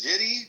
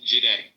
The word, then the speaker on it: Jide: After you, is it Jiddy? How do you pronounce that? Jide.